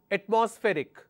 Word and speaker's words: atmospheric: all right another word atmospheric so let me break it into syllable at MOS Rick so my stress will be here atmospheric all right next